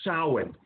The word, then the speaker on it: Samhain: It's spelt Samhain, or it's Samhaim, but it's pronounced Samhain.